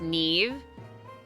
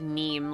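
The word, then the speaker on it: Niamh: It's pronounced Neve. That is a nice name. It's Irish. Yeah, I felt seeing that. I'm like, oh. I fear this will be something that pronunciation is not immediately apparent to one such as myself. In parentheses, one language knowing bozo. And then I look over and I thought I read neem, like neem oil.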